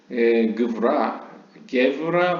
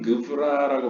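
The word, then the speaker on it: Gevurah: 게브라 혹은 그브라라고 발음되는 이것은 이제 strength, 힘을 의미합니다.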